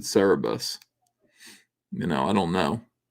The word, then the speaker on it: Cerebus: hippie dippie 1960s oh people who say it's pronounced Cerberus Cerberus is it because there's another e in there Cerebus we always pronounced it Cerebus you know I don't